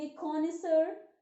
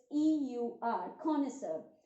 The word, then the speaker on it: connoisseur: हिंदी होगी पारखी, उसे हम इंग्लिश में कहेंगे कॉनिसर। Spelling is CONNOISSEUR, कॉनिसर।